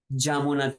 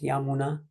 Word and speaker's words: Yamuna: Some people also, because Prabhupada chanting, for example, during Radha Madhava, he would say Jamuna Tira Vanachari, which is again Bengali pronunciation. But mostly, if you're not Bengalis, we can chant Yamuna.